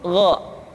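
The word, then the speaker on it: غ: Ain yang selanjutnya adalah huruf gho diucapkan seperti kita mengucapkan huruf Kha yaitu diucapkan dari pangkal tenggorokan kita yang membedakannya adalah Kha mengalir nafas dan G tidak mengalir nafas dan keduanya memiliki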